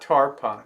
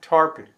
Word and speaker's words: Tarpon: Tarpon Springs actually Tasha they pronounced a tarpon right tarpon not tarpana tarpon I'd like to call